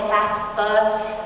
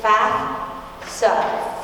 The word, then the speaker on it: FAFSA: Nobody says it right. I don't say it right. Half the time I'll say FAFSA, but it's FAFSA.